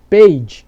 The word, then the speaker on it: page: Page, que não é peidável, é página. Observe também que esse E, ele é mudo.